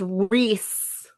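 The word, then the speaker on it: Rhys: And I'm like, it's Reese.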